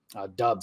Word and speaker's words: Doubs: Doubs, I think, is actually how you pronounce that name.